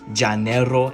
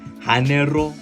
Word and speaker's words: Janeiro: research I found out that's actually how you pronounce it is Jano and not Hano but that could just